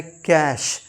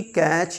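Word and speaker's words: cache: होता है next कैश सी ए सी एच ई ये होता है कैश ना कि कैच या कुछ शर कैश का मतलब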